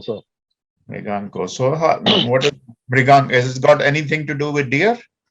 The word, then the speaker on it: Mriganka: This is pronounced as Mriganko, sir. Mriganko.